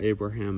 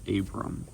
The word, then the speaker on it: Abram: that he had yeah I was saying his name wrong it's not Abraham it's Abram so that was Genesis 9 10 11.